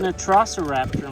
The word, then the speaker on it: Velociraptor: Oh, it's an Velociraptor, Milo.